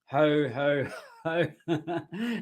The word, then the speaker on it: ho ho ho: In English, you pronounce the H. So in English, okay, I'll show you here. So in English, we pronounce the H. Okay, so it says ho ho ho, and you pull them.